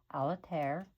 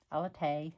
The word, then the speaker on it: Atelier: is called Almond Luxe Aler. Alate I think is how it's pronounced. It's French for craft room.